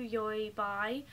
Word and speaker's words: Taobao: I went to Yoibai, that's the right pronunciation.